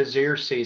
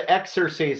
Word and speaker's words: Xerces: Very last, some of you may have never heard of the Xerces Society, and that's how it's pronounced, the Xerces Society. I've heard it pronounced the Xerces Society, but that's not how I tend to pronounce it.